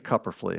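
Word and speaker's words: Kupferle: I think it's Cupperfly is how it's pronounced, but I could be mispronouncing it.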